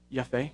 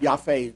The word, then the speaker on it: Jaffe: Michael Yaf. Congress enacted chapter 15. How did you pronounce his name? Yaf. You're on. Yaf. German pronunciation. Okay. It's not actually a German name.